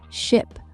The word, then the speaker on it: ship: The main difference is in the vowel sound. Ship has a short I sound, like ship, while sheep has a long E sound, like she, ship.